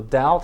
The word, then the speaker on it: doubt: to the of sound so doubt has a silent b as does doubtful there's the word through